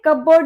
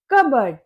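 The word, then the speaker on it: cupboard: बोलते हो आप कपबोर्ड ये कपबोर्ड नहीं होता। यह होता है कबर्ड जिसे हम बोलते हैं हिंदी में अलमारी।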